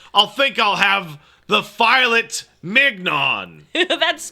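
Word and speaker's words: filet mignon: says to Martha I'll think I'll have the filet mnon that's pronounced F Min what's fet Min it's a type of steak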